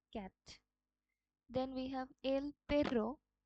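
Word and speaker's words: perro: then we have এল পেরো এখানে যে double আর আছে আমরা দেখেছিলাম যে স্প্যানিশ আলফাবেটে এই জিনিসটা রোল আর এর মত উচ্চারণ হয় এল যেটার অর্থ হচ্ছে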